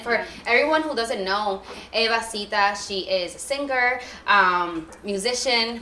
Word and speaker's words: Eva Sita: Eva Sita, yeah.